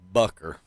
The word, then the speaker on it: Booker: That's not how you spell Booker, sir. That is pronounced Bucker.